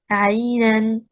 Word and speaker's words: عَيْنًا: عَيْنًا. We say the stress is on حركة العين.